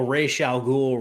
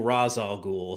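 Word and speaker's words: Ra's al Ghul: it's all right I I get on people who call racial ghoul Raz Al ghoul so yes um no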